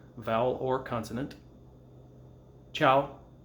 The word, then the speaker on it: ciao: letter vowel or consonant ciao ciao is a special case you're not going to say because the ci makes the cha and the ah after